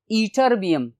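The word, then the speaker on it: Ytterbium: तो लैंथेनाइड जो है वो सीरियम से 58 से ईटरबियम, स्टूडेंट्स ईटरबियम, प्रोनाउंसिएशन ईटरबियम होगी।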